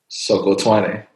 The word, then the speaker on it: Musokotwane: Musokotwane. Exactly right. Yeah, you got it. Musokotwane.